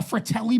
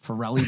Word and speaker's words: Fratelli: than the fact that Al pronounce as the FY Brothers farelli Brothers like yeah yeah he's like they're the farellis but and he's so confident with yeah they're like no it's fa they could be like